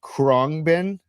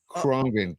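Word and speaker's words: Khruangbin: Uh, Kongben out of Texas. Kongen metal, right?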